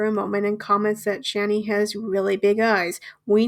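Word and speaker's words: Chani: Gabe asks how to pronounce it, which is fair. She says that a lot of people have problems with it, and the last celebrity she interviewed called her Hannah, which, how? How the hell do you get Hannah from Channy?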